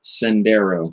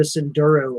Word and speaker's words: Sendero: Element Enduro Sendero. Sendero. I called it a Senduro earlier.